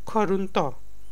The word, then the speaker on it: groente: Vegetables are called groente in Dutch. Groente. Groente. And is silent in the end. It's not silent, it's very soft.